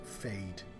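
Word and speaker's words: Feyd: He doesn't really look that much like Sting, but he does remind me of Sting from Dune, whose name was Fade, which is the first time, like, it's almost on the nose as a name.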